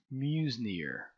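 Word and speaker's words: Meusnier: attributed to someone named i guess it's pronounced muse near that's how i will pronounce it and the formula is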